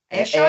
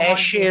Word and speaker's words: Ayrshire: Ayrshire, is that how you say it? We say sheer as in see-through material. Sheer. Okay. But some people Shire because they like.